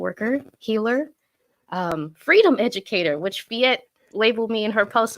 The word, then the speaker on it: Phette: I am Fiat Hollins, but people call me Fee because for some reason Fiat is hard to pronounce for some folks, even though it's only 2 syllables, but whatever.